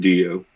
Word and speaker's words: D3EO: D3EO, just pronounced Dio.